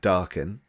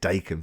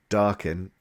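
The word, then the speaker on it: Daken: the Punisher so he sends Wolverine's son uh darken it's pronounced turns out um I said Dakin for like years darken to get the Punisher office list for him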